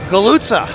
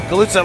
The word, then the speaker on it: Galutza: That I have official confirmation on the actual pronunciation, which is Galutza. Galuga. Galutza. Like, you know, if you just call someone a big galoot, but it's Galutza.